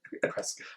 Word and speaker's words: Prescott: If you're local, it's Prescott. But it's Prescott. Like biscuit. Prescott. But it's spelled Prescott. Yes.